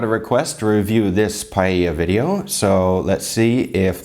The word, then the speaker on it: paella: I love paella because it's Oh, I should have pronounced it correctly. Paella, not paella.